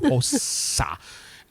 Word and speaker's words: Hossa: cabin that I was in way up in northern Lapland, up in Hossa. Or Hossa. There we go. The S is long. Hossa.